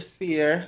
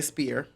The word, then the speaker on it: sphere: I need the big old cube or the sphere. I like that. I said the word properly this time. I like the sphere. I normally say spear. Two different things.